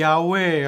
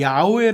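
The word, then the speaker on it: 야훼: 2 영어로 번역이 됐는데 영어에서는 야외 라는 발음 자체가 안 돼요 그래 가지고 그것을 음가를 따가지고 하다보니까 야외 하나님이 이어 호와 r 아치 호바 재호가 하나님 으로 바뀌게 되죠 그런데 우리나라 사람들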